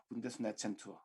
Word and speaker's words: Bundesnetzagentur: Bundesnetzagentur. I hope this is remotely correct in my pronunciation.